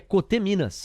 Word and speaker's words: Coteminas: uma observação na pronúncia Ele disse que é coteminas a galera fala coteminas ele inclusive é da